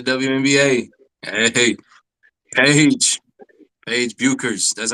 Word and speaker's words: Bueckers: Paige Buers.